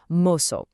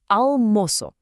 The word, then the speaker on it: almoço: For the moço half of the word, you really need to place a heavy emphasis on that first syllable, moço. Let's put it all together, almoço.